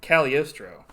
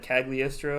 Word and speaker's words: Cagliostro: like in the movie they call it uh caliostro but so there's like a silent g and i've always said cagliastro i guess i'll try to say caliostro but i'll probably mess it up uh so this came